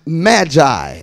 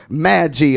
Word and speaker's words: Magi: the Bible it it calls them Magi or Magi or however you want to pronounce it m a GI I amen they were stargazers